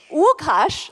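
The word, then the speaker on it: Łukasz: your another Polish cinematographer Lukash Wukash I try to speak like Polish pronunciation Wukasho and uh we also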